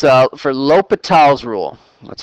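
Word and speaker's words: L'Hôpital: it as two though it says uh for lal's rule that's how you pronounce it again use the right pronunciation for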